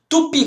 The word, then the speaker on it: Tupi: Tupi. Qual que é a sílaba tônica, pessoal? É o pi.